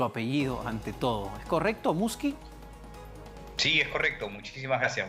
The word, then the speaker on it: Muschi: Doctor Muschi, no sé si estoy pronunciando bien su apellido ante todo. ¿Es correcto, Muschi?